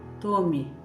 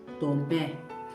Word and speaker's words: Tomé: Falamos Tomé com acento. Se eu tiro o acento, fica Tome. Não é um nome, Tome. Tome não é um nome, eu posso dar alguma coisa para alguém e dizer tome isso para você. Com o acento, Tomé.